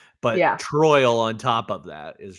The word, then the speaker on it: Troyal: full name is it's troyal Garth Brooks I missed that I did not troyal spelled like Royal with a t t r t r it's just Royal with a t in front t r o y